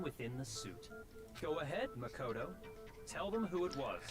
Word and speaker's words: Makoto: My name is Makoto.